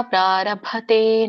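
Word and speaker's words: प्रारभते: ಕರ್ಮ ಪ್ರಾರಭೆ ನರಹ ಭ ದೊಡ್ಡ ಭ ಬರುತ್ತೆ ಮಹಾಪ್ರಾಣ ಗಮನಿಸಿ ಕರ್ಮ ಪ್ರಾರಭತೆ ನರಹ ಕರ್ಮ ಪ್ರಾರಭ ಕರ್ಮ ಪ್ರಾರಭ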